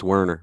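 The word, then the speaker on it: Wernher: Brown you really what's it's wner pronounce with the V is a as a w but go ahead wner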